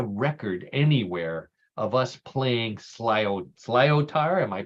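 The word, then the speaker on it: sliotar: I could not find a record anywhere of us playing slyotar. Am I pronouncing that correctly? That's correct, Paul. Yeah, slyotar.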